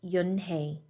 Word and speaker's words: Unhei: turning around it was joey your name is un-he he asked her with his eyes open wide yuen hey looked quickly at mr kim then turned to joey she nodded slowly yes it's pronounced yun-hey and it means grace mr kim added joey